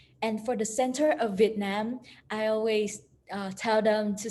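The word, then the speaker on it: Việt Nam: connect it quick and together we can have vietnam vietnam vietnam and then the capital of vietnam is hanoi and for the foreigner i always teach them to pronounce it and for the center of vietnam i always tell them to say that yeah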